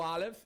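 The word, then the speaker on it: אלף: O Aleph, ele é tido como uma consoante inaudível.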